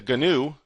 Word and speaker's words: GNU: A lot of it is released under the new or as I like to pronounce it the GNU license.